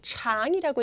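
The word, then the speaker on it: 长: need 토파 너의 머리카락이 여기선 장이라고 읽으시면 안 되는 거고요 장이라고 읽으셔야 돼요 장이란 건 길다 거고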